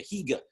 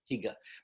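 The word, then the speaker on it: hygge: our convenings from Scandinavia hega h y g g not I'm pronouncing it properly but Higa basically that sense of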